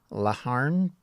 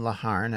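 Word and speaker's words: Laugharne: Poyer was supported by Colonel Roland, and I believe you pronounce the name Laharn, but I could be wrong, Parliament's military commander in Pembrokeshire, and a small force of about 100 soldiers which defended the castle.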